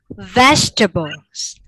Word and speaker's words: vegetable: Vegetables. Vegetable. Okay. Vegetable. Yeah, 3 syllables.